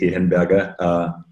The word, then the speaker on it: Hehenberger: name so my name is obviously with Ian Berger Austria therefore the slightly difficult to pronounce name and I'm the founder of fat